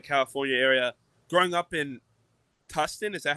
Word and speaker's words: Tustin: Growing up in Tustin, is that how you say it? Yeah, Tustin.